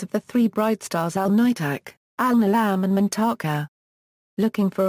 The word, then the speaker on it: Alnitak: Component stars equals Alnitak equals Alnitak is pronounced Alnitak.